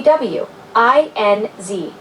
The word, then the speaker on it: WINZ: When referring to radio station call letters, we typically pronounce each letter separately. For example, wide would be pronounced WIOD and WINZ would be WINZ.